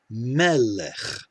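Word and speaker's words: מֶלֶךְ: fourth example here is melech we know this first syllable will get the accent it will get the stress because we have an open syllable with a short segal vowel same with this last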